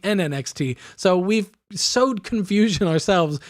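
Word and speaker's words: NN-XT: We come up with the advanced sampler, and we call it the Nina XT? No, we call it the NNXT.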